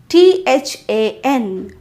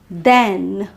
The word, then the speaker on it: than: Look at this word t-h-a-n. This is pronounced as than and the word t-h-e-n which is pronounced as then. Once again than with a vowel sound /æ/ than.